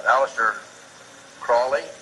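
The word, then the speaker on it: Aleister Crowley: i learned about with aleister crawley he likes to be have his name pronounced crowley to rhyme with holy and uh the statements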